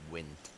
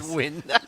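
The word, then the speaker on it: Nguyen: I mean, by the way, I think the Vietnamese pronunciation for that surname is win.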